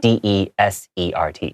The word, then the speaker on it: desert: it's just one s d e s e r t yeah also the pronunciation is different say dessert for the sweet food and desert for the the the place that is very hot yes so that's a